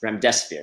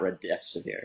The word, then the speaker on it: Remdesivir: Okay, I'm saying Remdesivir. I'm sorry, it's Remdesivir, not Remdesivir. So I always say it wrong.